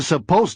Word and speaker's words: supposed: Notice that I always have a final D. S-U-P-P-O-S-E-D. 2. But I'll let you in on a secret. There's no D sound when you say me.